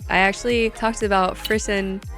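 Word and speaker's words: frisson: I actually talked about frisen I think that's how you pronounce it f r i s s o n and it's the phenomena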